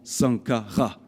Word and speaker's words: Sankara: Et ensuite, nous allons lire le symbole du soleil qui se prononce Ra. Donc nous avons Sankara.